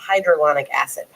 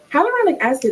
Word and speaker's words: hyaluronic acid: That's how do you feel about hydrolonic acid? Hyaluronic acid is right.